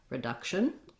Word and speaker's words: reduction: The letter U in this word, instead of an oo, tense oo, like in reduce, it changes to a tense schwa, the sound. It's actually a relaxed sound, but it's a stressed schwa, I should say, not a tense schwa. And so it's just like the word duck.